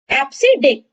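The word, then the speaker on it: EBCDIC: एप्सिडिक, इसको प्रोनाउंसिएशन किया जाता है एप्सिडिक से, और ये यूज करता है 8 बिट्स।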